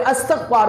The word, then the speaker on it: استغفار: وقت استغفار کرتے ہیں، جس کو ہم عرف عام میں استغفار بولتے ہیں. اس کا درست تلفظ ہے استغفار، یعنی اللہ تعالیٰ سے مغفرت کا سوال کرنا.